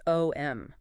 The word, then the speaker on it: Om: the foundational concrete and that word is OM. But the texts break the single syllable down further into three distinct phonetic parts.